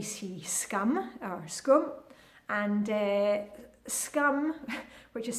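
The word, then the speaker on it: skum: Talking about sweets, you'll maybe see scum or scum, and scum, which is spelled S-K-U-M, has got nothing to do with scum.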